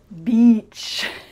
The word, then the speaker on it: beach: And finally, we have the word beach. Beach. A lot of you are concerned that you might say a rude word instead. So let's practice that vowel sound. It needs to be a long E.